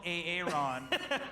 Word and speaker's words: Aaron: And he prefers to be called Aaron. And everyone's been pronouncing it wrong all these years.